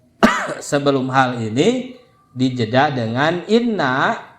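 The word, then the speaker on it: إنّ: hal ini dijeda dengan Inna maka harus dibacanya Inna Inna kasrah Walaupun dia tengah-tengah kalimat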